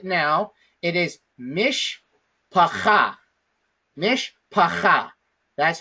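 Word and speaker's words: מִשְׁפָּחָה: So that being said, the way that we pronounce this word right now, it is mishpacha. Mishpacha. That's how we pronounce it.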